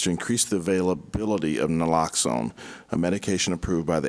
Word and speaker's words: naloxone: care Oregon naloxone how do you say that naloxone naloxone thank you distribution project agreement value is